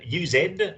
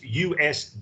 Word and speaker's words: used: th lr sounds um you pronounce used do you pronounce it used use ed yeah it should be just it's just usd used um and then i